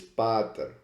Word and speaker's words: pater: In the word pater, A is pronounced double time.